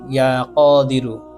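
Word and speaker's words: يا قادر: পাঠ করার পরে আল্লাহ তাালার এই নামটি ইয়া কদিরু ইয়া কদিরু ইয়া কদিরু। এই নামটির মধ্যে কফ আছে। কফকেই উচ্চারণ করতে হবে। কফের জায়গায় যদি আপনি কাফ উচ্চারণ করেন তাহলে অর্থ পরিবর্তন হয়ে যাবে।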